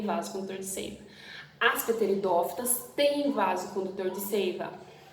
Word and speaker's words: pteridófitas: Bom, outro grupo são das pteridófitas, ou pteridófitas, né? O P é mudo.